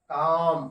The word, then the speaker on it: calm: जैसे एल के बाद यदि एम शब्द आए तो एल का उच्चारण नहीं करते, जैसे CALM, क्या पढ़ते हैं इसको हम लोग, पढ़िए, काम।